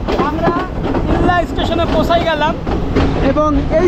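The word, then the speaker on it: Ella: এক প্রকার বরি ওয়েলকাম এল্লা আমরা ইল্লাল্লা স্টেশনে পৌঁছায় গেলাম এবং এই স্টেশনটা দেখুন কত সুন্দর এন্ড ওয়েলকাম এইযে এলই ডবল এল এটার উচ্চারণ ইল্লা এখানকার মানুষ বলে এলা এরকম একটা ব্যাপার ওকে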